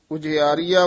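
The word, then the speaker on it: उजिआरिआ: ज्यान दीपक उज आरिया उज आरिया उच्चारण करना है उज आरिया नहीं कहना बिहारी लाके गुर ज्ञान दीपक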